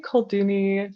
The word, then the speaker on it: Kolduni: I say Kolduni, so Koldunya for female sorcerers, and then Koldun for a male sorcerer.